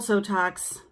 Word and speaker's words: Sotox: It's called Sotox because it rhymes with Botox, and it does great things for your skin in a natural way, like Botox does, I guess.